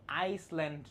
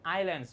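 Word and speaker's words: island: Indonesia big country made up of many আইল্যান্ড। ঠিক আছে? এই শব্দটা উচ্চারণ কিন্তু আইসল্যান্ড না। এখানে এস আছে বাট এস এর উচ্চারণটা সাইলেন্ট থাকে। আমরা আইল্যান্ড বলি।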